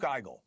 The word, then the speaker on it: Igel: One of the creators, Luke Eigel, joins me now.